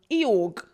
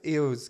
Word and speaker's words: Eeyore: What's the G? Eorg. Who's Eorg? Is that the name? No. Eeyore. Eeyore. Eeyore. Eorg. I thought it was EO. How'd you spell it? Eeyore. Eeyore. No. There's no G.